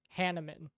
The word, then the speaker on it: Hanuman: But the pronunciation of Hanuman, the correct pronunciation is Hanuman.